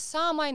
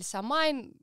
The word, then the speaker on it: Самайн: И 1 ноября, условно говоря, это у нас самайн или самайн. Тут ударение особо не имеет значения никакого.